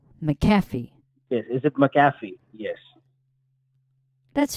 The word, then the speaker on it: McAfee: McAfee is it McAfee oh so the accent is on the F McAfee is it McAfee yes